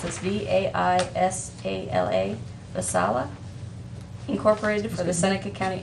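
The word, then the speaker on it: Vaisala: i have a an agreement with help me pronounce this v-a-i-s-a-l-a masala incorporated for the seneca county airport awos maintenance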